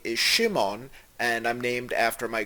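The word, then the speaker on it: שמעון: of the hebrew name shimon in ashkenazi hebrew we would pronounce it shimin so assuming that scott's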